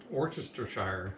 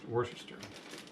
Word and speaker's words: Worcestershire: going with the balsamic do you want to say this orchestra shire or orchestra why do you do that to me this one tablespoon is going in just like it's spelled yep or worcestershire okay um we'll put